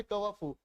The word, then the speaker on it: coiffeur: लेकिन एक one word comment करके बताओ, COI, कवाफू, इसके प्रोनाउंसिएशन होगी कवाफू, और इसको क्या कहोगे?